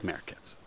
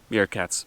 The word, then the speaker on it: meerkats: I love it because I like merkats. Meerkats, meerkats.